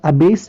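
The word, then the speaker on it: abase: तो ये पहले वाले में जो प्रोनाउंसिएशन है वो अबेस है और दूसरे वाले में जो प्रोनाउंसिएशन है वो अबैश है, ठीक है। यानी स और श का अंतर है, यानी एक वाले में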